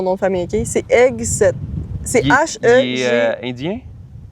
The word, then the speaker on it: Hegseth: J'ai de la misère à prononcer son nom de famille, OK? C'est Hegseth.